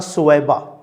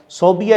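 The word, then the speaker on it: ثویبہ: اس کا نام تھا سویبہ۔ صوبیہ اس کو کئی لوگ پڑھتے ہیں، غلط تلفظ ہے صوبیہ، صحیح لفظ ہے سویبہ۔ سویبہ اس کی لونڈی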